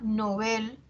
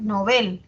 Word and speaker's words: Nobel: lleva tilde A ver novel es aguda Aunque yo la pronuncie grave pero debo atender a lo que dice el dpd el dpd me dice que se recomienda su uso agudo porque proviene del francés que es novel eh No no era